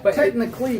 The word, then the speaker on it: Technical.ly: The first is Technically, which David has been saying this whole time. Technically, but it's spelled technical.